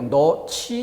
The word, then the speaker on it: 넣지: 어미 지가 와서 히읗과 결합되며 거센 소리로 너치 이렇게 소리가 나는 거죠.